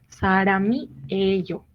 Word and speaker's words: 사람이에요: Aquí de la misma manera, pues la M que está en este caso se combina con la I que sigue. 사람이에요.